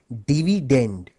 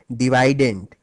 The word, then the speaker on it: dividend: dividend by the way the correct English pronunciation of this word is actually dividend but since divident ryes better with divisor